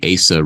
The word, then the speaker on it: ASA: But before we move on, I believe it's pronounced the ASA Restoration Project. Is that do I have that right? Thank you for getting that right.